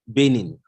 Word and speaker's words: Banin: So it's spelled B-A, but it's pronounced Benin.